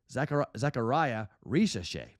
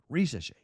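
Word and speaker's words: Risacher: I mispronounced his name a while ago, but Zachariah Risache. I came close when I said it last time. Risache.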